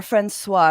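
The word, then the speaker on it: François: um leave it to Miriam franois who or franois I'm sorry the S is silent I do not speak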